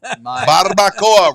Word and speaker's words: barbacoa: Barbacoa. Barbacoa. Roll your R's and say.